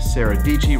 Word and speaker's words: Dietschy: Peter McKinnon, MKBHD, Sarah Deechee, rhymes with Peachy, and Casey Neistat looks super old.